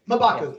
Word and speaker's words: M'Baku: M'Baku, thank you.